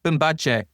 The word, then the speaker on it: Bimbache: Uh Bimbache.